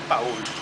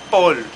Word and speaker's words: Paul: el dueño se llama Juan Paúl pero se dice Paul Paul forestal y el nombre de él es Juan Paul No es cierto se escribe Paul Juan Paul No es